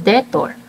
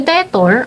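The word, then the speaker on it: debtor: Next we have we have detor. Sa detor okay kaya siya pasok kasi si letter B hindi naman natin na-pronounce.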